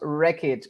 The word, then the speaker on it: Wreckage: My name is pronounced Wreckage, so it's Wreckage the Joker.